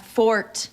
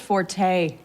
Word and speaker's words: forte: just that it's not Fort it's pronounced Forte you know actually that's a common misconception you know Forte is a musical term meaning loud from the Italian Fort is deriv from